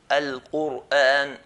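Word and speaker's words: القرآن: If the previous letter has a dhamma, then we're going to pronounce ra in a heavy manner. Like the word Quran. Al-Quran, Al-Quran. Not Quran, Quran, but Quran, Quran.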